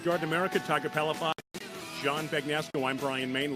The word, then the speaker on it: Palafox: Telethon? No, Palafox is P as in Paul, A-L-A, F like Frank, O-X.